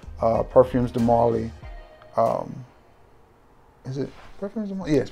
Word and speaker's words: Parfums de Marly: Is it Parfums de Marly? Yes, Parfums de Marly.